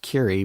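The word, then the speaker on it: Kure: We all would share this beach cottage down at the beach in Curie Beach, North Carolina, pronounced Curie, but like Madame Curie, but spelled K-U-R-E.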